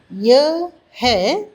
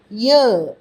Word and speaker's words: यह: यह यह என்பதை சொல்லும் பொழுது ய என்று கூறுவோம். அதே போல वह है वह என்பதை வ என்று கூறுவோம். यह है वह है. சில பேர் கேட்கலாம், யஹ் என்று சொன்னால் தவறா என்று. அப்படி சொன்னால் தவறு ஒன்றுமில்லை. ஆனால் போக போக ய என்று சொல்ல கற்றுக்கொண்டால் நல்லது.